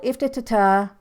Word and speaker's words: IFTTT: for you i call iftata that because it's if this then that they say it rhymes with lift but i like saying